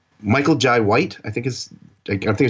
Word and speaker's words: Michael Jai White: Michael Jai White, I think I think I'm saying his name wrong.